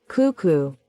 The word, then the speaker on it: cuckoo: En inglés también, solo que allí la sílaba acentuada es la primera y por eso dicen cuckoo.